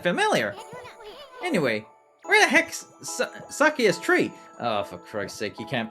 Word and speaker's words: Sakuya: I'm not gonna turn heel, and I'm gonna bite Sakuya, okay? Or Shakuya, as she's pronouncing herself as.